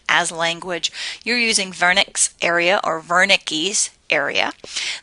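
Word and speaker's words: Wernicke: or ver Niki's area this is a German individual so the W sounds like a V I've heard it pronounced a lot of different ways were Nick were Nikki's Vernick ver Nikki's those are all saying the same thing that the patch of the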